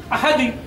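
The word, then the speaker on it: أحد: তেমন এখানে দাঁড়ের উপরে দুই পেশ আছে, এখানে এমনটা হবে না যে কুল হুয়াল্লাহু আহাদ, বা যদি দিশে জের থাকতো আহাদি, তা হবে না, হবে জবরের মতো।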